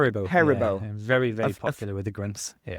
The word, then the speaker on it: Haribo: How do you pronounce that? Haribo. Haribo.